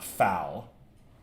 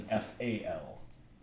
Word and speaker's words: FAL: no it's a b-a-r just like that self-loading rifle that you Brits used to use is not a foul it's an FAL okay time for the